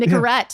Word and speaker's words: Nicorette: Wait, how do you say it? Did I say it right? Nicorette. Yeah.